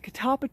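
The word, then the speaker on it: catalpa: I don't know I can't tell if the catapa tree bit the dust first and uh because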